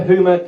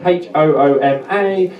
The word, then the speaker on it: Hooma: Do like Hooma on Facebook, Instagram and Twitter. Hooma, Hooma, as in sense of humour, that's how you pronounce it in Norfolk.